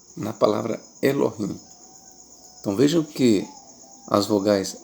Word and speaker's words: Elohim: Então na palavra Elohim nós temos três vogais pronunciadas. E ló ou a outra o e rim i. Então nós temos três vogais e o i. na palavra Elohim.